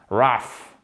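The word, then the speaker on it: rough: chose qui est rugueux hockey raf vraiment le prononcer comme ça avec un feu à la fin et ça c'est entre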